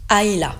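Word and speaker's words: Islay: s'appelle a AA voilà ça s'écrit i s l a y mais ça se prononce aïa comme tout tout le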